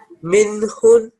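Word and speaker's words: مِنْهُنَّ: Okay, so you have to say minhun.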